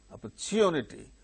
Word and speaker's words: opportunity: the opportunity thank you opportunity in the case of the word opportunity OPP so it is third syllable in the word opportunity third syllable gains stress therefore in the sentence